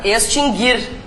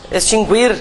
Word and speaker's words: extinguir: quando nós vimos acentuação esse verbo se pronuncia assim mesmo né extinguir por que que eu estou falando sobre isso porque várias pessoas dizem extinguir É e tem outro